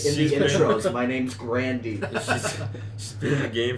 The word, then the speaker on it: Grande: Apparently, her last name is pronounced Grandy, but I'm so used to Isn't saying there an Grande.